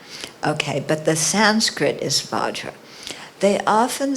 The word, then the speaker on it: Vajra: I started out with Benza too, because that's how Tibetans pronounce Vajra.